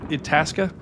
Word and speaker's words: Itasca: This is a Itasca. Is that how you pronounce it? Itasca.